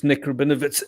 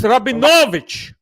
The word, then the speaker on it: Rabinowitz: them my name and surname as it is necro benefits and she said no that is a russian surveillance that is not how you pronounce it's rabbi novich krabinovic this is and i was like how